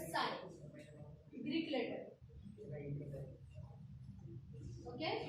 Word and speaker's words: psi: सो ये हो गया अपना डायहेड्रल एंगल, और इसका सिंबल होता है, साइन, ग्रीक लेटर, ओके, इसका सिंबल होता है साइन, SI, ऐसे इसका प्रोनाउंसिएशन। PSI होता है एक्चुअली, पर स्पेलिंग से सिर्फ साइन, ओके, हो गया।